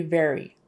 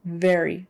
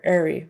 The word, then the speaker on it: very: very tired very very very we use that a lot so make sure you are saying it with the V sound so teeth on your lip just a little bit very very very they don't